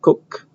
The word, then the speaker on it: Coq: It was invented by French people, so I think it's pronounced Coq, the Coq proof assistant.